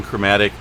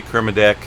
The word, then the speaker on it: Kermadec: i get you know i keep saying chromatic i guess you can say Kermadec there's a couple different pronunciations on it one of my many pronunciations of different words but I checked this I already look this one up and there's two different ways you could say it so Kermadec and chromatic island so actually I think